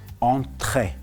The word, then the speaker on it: entrée: And in French, it is pronounced as entrée.